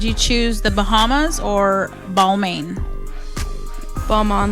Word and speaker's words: Balmain: Balmain. Balmain.